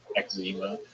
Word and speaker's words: eczema: So I get that the proper pronunciation of words is confusing to you, but it actually is pronounced eczema, not eczema. It's eczema, dog.